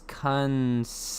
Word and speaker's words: Kunce: His name is Lucas Kuntz. Oh. That's for the AI. I want to clarify, YouTube, that is Lucas Kunce. Okay, I am not saying a T in there. It's Lucas Kuntz.